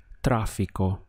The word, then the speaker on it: tráfico: Notice that we have an accent over the A, so this is where you're going to stress your pronunciation. Tráfico.